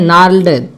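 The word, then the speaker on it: gnarled: ओल्ड क्या कहते हैं नार्ल्ड, देखिए जी साइलेंट है यहाँ पे, NARLD नार्ल्ड लिखा हुआ देखिए आप समझ गए होंगे।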